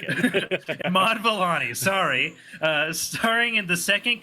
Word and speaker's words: Iman Vellani: With Miss Marvel lead Imani Vellani, that's a name. It rhymes. Sorry, it just caught me off guard saying it out loud like that. Iman Vellani. I know. I added an extra I in there because I wanted it to rhyme in my head.